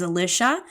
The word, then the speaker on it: Alicia: that's why sometimes you'll hear them say my name as Alisha because that's my American name that I don't go by but that my brother and Mom use all the time and that's